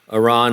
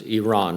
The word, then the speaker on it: Iran: to pronounce that correctly you know it's Iran right is that I always like to say Iran yeah that's CU I'm a crazy American but anyway it's Iran